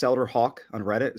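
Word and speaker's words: Haugh: Elder Hawk on Reddit spell it out with it like a bird send me a private message you can follow me on Twitter at Hawk uh on Twitter it's h-a-u-g-h not spell like the bird um I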